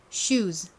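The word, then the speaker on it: shoes: 붙이는이 s를 붙여준다라고 말씀드렸어요 여기서 s는 지읒 발음이 나서 슈즈 슈즈 이렇게 발음을 합니다 한국식으로는 슈즈 보통 이렇게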